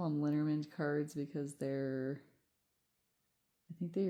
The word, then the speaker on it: Lenormand: I call them Lenormand cards because I think they originated in Germany, and so I just do the German pronunciation because it's easier than French.